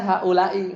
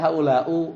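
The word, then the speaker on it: هؤلاء: dialek, ya, yaksiruna akhiruhu, semuanya bacanya haulai, enggak ada yang haulau gitu ya. Sepakat, ya. Fi jami'il ahwal. Di gimana kek? Di marfu, mansub, majrur, pokoknya bacanya haulai. Ya udah, itu mah gampang lah, ya kan? Jadi enggak ada orang Arab yang bacanya haulau, enggak ada orang Arab yang bacanya haulaa. Itu enggak ada, ya. Salah itu.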